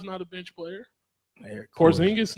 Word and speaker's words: Porzingis: Their core- Porzingis not going to be a bench player. Well, no, Porzingis. I know. Did I say it right? Porzingis.